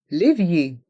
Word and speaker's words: évier: chaises le fauteuil prononçons lévier l' viier dans le mot évier il y a le son et avec les lettres e et R on prononce bien le i les viier lévier le robinet le robinet